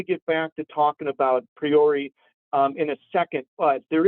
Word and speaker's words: Priore: First off, I've heard many times with you going into, I mispronounce his name. I call him Priore, but it's Antoine Priore. Antoine Priore, French.